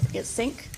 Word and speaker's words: CINC: Sync software it's spelled CINC.